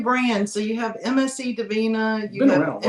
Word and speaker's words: Divina: The MSC Divina, is that how you say it?